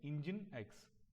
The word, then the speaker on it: Nginx: Okay, it is spelled as Nginx, but we pronounce it Nginx.